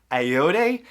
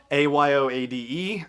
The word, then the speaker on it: Ayoade: And also the droid is played by, here we go with pronunciation, Richard Ayoade, Ayoade.